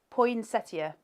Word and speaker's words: poinsettia: Poinsettia.